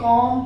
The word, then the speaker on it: comb: COMB, कॉम पढ़ेंगे, कॉम ब नहीं, कॉम मतलब आप वो